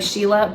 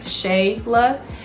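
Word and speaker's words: Shéla: Well, people, they say my name is spelled S-H-E-L-A, so it looks like Sheila, but it actually has an accent over the E, so it's pronounced Shayla.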